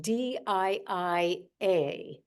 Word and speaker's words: Diia: are on this call in English it's spelled di a and then of course in Ukrainian it's you know Dia but I think it's